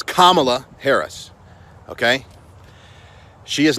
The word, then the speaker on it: Kamala: Okay, Kamala Harris, and by the way, that's how you pronounce her name. It's Kamala. Think Kama, it's not Kamala, which I'm guilty of saying. It's Kamala Harris, okay?